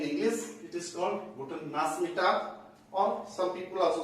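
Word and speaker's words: Nachmittag: एज I have already told to यू, सीएच का उच्चारण जो होता है बेसिकली साउथर्न जर्मनी में शौका होता है और नॉर्दर्न जर्मनी में खौगा होता है। तो कुछ लोग इसे नाचमिटाग से प्रोनाउंसिएट करते हैं, कुछ लोग इसे नाचमिटाग बोलते हैं, नाचमिटाग।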